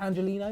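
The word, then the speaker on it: Angeliño: Is it Angelino? Is that how it's said? Yeah. Angelino, he was really impressive last night as well, which I didn't quite expect having seen him at City.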